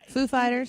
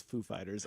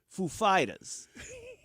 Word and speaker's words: Foo Fighters: Christopher Walken to mispronounce Foo Fighters at Saturday Night Live. He's like, the emphasis is on the second word. He said Christopher Walken comes out there. He's like, and now Foo Fighters.